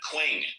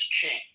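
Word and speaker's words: Qing: Quing. Hello. Quing, if I'm pronouncing that right. Quing. Quing. Q. Q I N G Q I N G once. Q I There he goes. It's pronounced as Ching.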